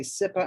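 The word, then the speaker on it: CIPA: a lot so I'm going to say sippa I'm sure that's not correct it has to do with children um children internet protection act I think that's what that stands for children okay you're saying it right and you are saying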